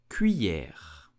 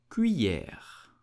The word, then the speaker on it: cuillère: You will say cuillère, cuillère, cuillère, cuillère. Here the double L makes the sound y, so c'est cuillère. Did you know that in the Philippines and some country they use the cuillère instead of the knife?